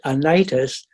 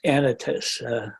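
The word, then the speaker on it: Anytus: up edit this I've been all these years pronouncing it anitis and then I looked up and uh it's pronounced anitas usually the Greek names are pronounced on the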